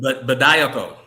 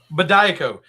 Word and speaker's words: Bediako: Bediako. Bediako.